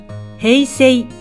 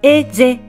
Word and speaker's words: 平成: 発音されずおまけに母音に挟まれた単独の S は Z の音に変わるという規則があるので平成ではなくえぜと発音されてしまうのですですからもしお